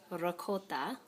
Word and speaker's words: ricotta: So the proper way to say ricotta is just like that.